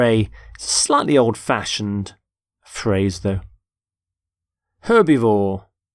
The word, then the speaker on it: herbivore: herb by the way you pronounce the h in the word herbivore for example the stomach